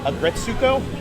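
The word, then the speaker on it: Aggretsuko: Like I started watching, I'm probably going to mispronounce it, Agretsuko?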